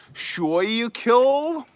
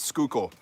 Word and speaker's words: Schuylkill: York because I know that that's not pronounced sure you kill question mark its Schuylkill like Schuylkill County and there's also a Schuylkill River yeah I clearly I